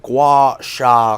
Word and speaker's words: gua sha: So I'm hoping you can explain to me exactly what a gua sha quartz is, please. Well pronounced.